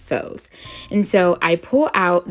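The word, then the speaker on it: φῶς: on the word light in greek which is pronounced foes and so i pull out the victoria symbol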